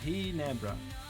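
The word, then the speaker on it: Ginebra: We also have a brand of gin called Jinbra which is pronounced hera.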